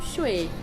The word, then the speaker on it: Chuí: é muito importante mesmo a pronúncia correta é 100 shui é na verdade jeito certo de falar é como shuay um dock o que